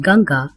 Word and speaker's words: Ganga: The Ganges, pronounced Ganga in most Indian languages, is one of the